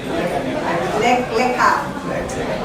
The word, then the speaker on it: Lech-Lecha: How do you pronounce it? Lek, Lekha. Ha or ha? Ha. Ha. Lek, Lekha.